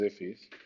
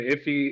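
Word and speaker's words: IIFE: Immediately invoked function, pronounced IFI, is a JavaScript design pattern often used to minimize naming conflict and create private variables. Okay. So the conventional format for an IFI is to enclose the whole function within the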